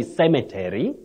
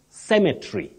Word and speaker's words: cemetery: yes we don't say Cemetery okay you don't say Cemetery you say cemetry cemetry the E which is the last one is not pronounced you say cemetry just